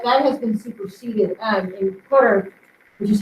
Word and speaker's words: Qatar: I can't remember the name of it, but that has been superseded in Qatar, which is how you pronounce that.